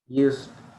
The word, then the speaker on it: used: He Used. used, when you pronounce that, use the letter D, you pronounce it a little bit, used a gun against